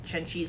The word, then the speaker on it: Chen Qi: And again, I figured out how to pronounce Chen Qi's name. It's Chen Qi, not Chen Kui. It's Chen Qi.